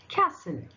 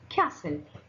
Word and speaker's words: castle: Now, letter T can also be little sneaky and also be silent, like it. In the example, what is the example? Ballet. How you pronounce this? Ballet. Soften. Soften. Gourmet. Gourmet. Asthma. What is that? Asthma. Christmas. Whistle. Listen.